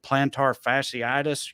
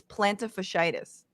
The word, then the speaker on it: plantar fasciitis: doesn't sound weird so it's i think it's plantar fasciitis plantar fasciitis google has lied to me you know you look up with the like phonetic pronunciations for things where they put uh like by syllables yeah yeah yeah well when you look at it like that it's like playing tar fashion or whatever and you just put